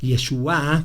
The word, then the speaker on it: Yeshua: Yeshua, con acento en la A, o con una Yeshua, quiere decir salvación.